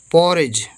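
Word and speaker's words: porridge: क्या होता है पुल पॉरिज पीओ पो डबल आर आई राव डीगरी डी साइलेंट है जी से जा पोरेज पज मतलब दलिया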